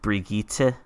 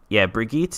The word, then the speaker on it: Brigitte: Her name is, it's spelled like Bridget, but it's pronounced, I think, like Brigitte.